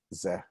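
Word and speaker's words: זה: It's somewhere in between ze and It's between a short E and a long and an A.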